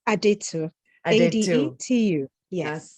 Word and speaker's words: Adetu: it for me please it's so simple it's aditya to you yes sounds